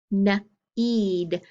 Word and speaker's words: knead: a d up here then i have n eid this is the type of need like when you're kneading bread so i know it's a